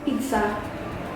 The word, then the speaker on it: pizza: So, how is the correct way to pronounce pizza? Pizza. It's not pizza, No. not pizza. So, it's like you put T before the Z. Yeah. And double Z, so strong.